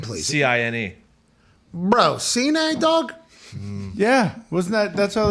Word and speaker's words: Cine: Cine. Bro, Cine, dog? Yeah, wasn't that's how they pronounced it on the national championship?